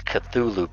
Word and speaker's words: Cthulhu: It's Cthulhu Poppy to be 100% honest, but.